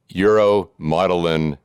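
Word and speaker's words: uromodulin: And it wasn't until 2016 that genetic testing revealed the cause of kidney disease in your family, uromotilin kidney disease. Did I pronounce that correctly?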